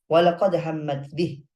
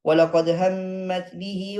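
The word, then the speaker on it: وَلَقَدْ هَمَّتْ بِهِ: Walaqad hammat bih. Wa hamma biha laula arra'a burhana rabbih. Begitu bacaannya. Nggak boleh kita sambung. Walaqad hammat bihi wa hamma biha laula arra'a burhana rabbih.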